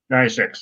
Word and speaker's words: Deus Ex: I don't know if I'm pronouncing this right, really, but it's I played Deus Ex Mankind Divided. Oh, Deus Ex. Deus Ex, that's it.